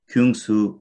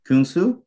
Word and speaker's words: Kyungsoo: south korea that's right and his name is kungsu have i pronounced your first name correctly kunsu that's right you did it pretty good okay